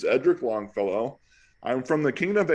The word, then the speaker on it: Edric Longfellow: Actually, call me Edric because I mispronounced my name in my early days in the SCA. But the proper pronunciation is Edric Longfellow.